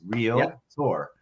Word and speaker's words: Realtor: tour uh but it's so funny when you listen to a real tour say it incorrectly it just cracks me up uh so I'm glad you brought that up I'm glad you tour two syllables real Tor uh so wal I